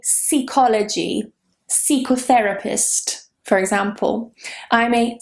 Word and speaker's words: psychotherapist: Psychotherapist. For example, I'm a psychologist, but it's not C, it is psi. That beginning, PSY, is always psi in English. Psychology, psychotherapist, psychotherapy, psychologist, they're all with psi.